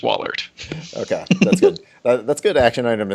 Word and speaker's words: Wallaert: for a long time to me it's just Wahlert that's good action item